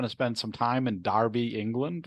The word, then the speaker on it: Derby: originally brewed in in Darby which is spelled Derby but pronounced Darby England d-e-r-b-y and they